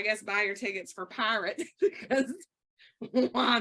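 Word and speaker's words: PYRT: called and it's p-y-r-t pronounced pirate like I'm about to steal all your he's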